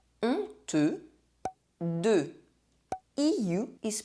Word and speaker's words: deux: The fire Bleu Blue EU is pronounced [ø] if followed by a silent consonant at the end of a word Honteux Disgraceful Deux Two EU is pronounced